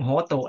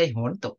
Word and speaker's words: โหตุ: ปุญญัง นะ อิทังโนญาตินัง โหตุ ตรง นี้ นะ ต้อง ออก เสียง โหตุ นะ อ่า เนี่ย ๆ ๆ โหตุ เนี่ย ต้อง ออก เสียง ให้ ถูก นะ ต้อง โหตุ นะ ไม่ ใช่ โหนตุ นะ ต้อง เป็น เอกวจนะ